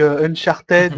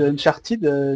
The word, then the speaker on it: Uncharted: vous savez pas que le ed ne se prononce pas en anglais retourner en 6e les gars parce que Uncharted Uncharted non c'est unchart le